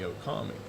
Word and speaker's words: Okami: And then I found Japanese and was like, oh, okay, it's got the long double O sound at the beginning. So really, people can just say Lobo Okami.